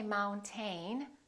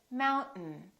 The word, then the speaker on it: mountain: This AI, these 2 letters are not pronounced. We don't say mountain. We say mountain, mountain. This syllable is stressed, therefore the second syllable is reduced and the vowel disappears. So we say mountain. Don't say mountain. Don't release your tongue. Keep it up and just go directly to the N.